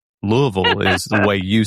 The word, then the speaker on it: Louisville: Yeah, that's the right way to say it. Everybody outside of this area says it the wrong way, but but you would probably know it if you don't live here as Louisville, but it's that's that's not